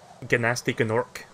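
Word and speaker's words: Gnasty Gnork: Sometimes as a joke I actively pronounce the G as well as the N when I say something. But I didn't know there was a video game that actually did that for me, so...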